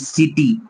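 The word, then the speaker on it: city: নেব যেরকম আমরা পড়ি সিটি এটা তো কি পড়া উচিত বিকজ সি এর তো দুইটা উচ্চারণ একটা স একটা ক বাট এখানে সিটি পড়ছি বিকজ সি এর পরে এখানে আই আছে এরকম আমরা আরো এক্সাম্পল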